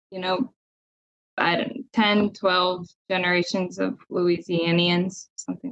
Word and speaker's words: Louisianians: So they're like, I don't know, 10, 12 generations of Louisianians, something like that.